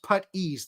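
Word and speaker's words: puttees: the same thing uh putties pronounced putt ease there you go so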